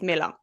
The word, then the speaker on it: Mueller: So it's not spelled Miller, but it was pronounced Miller.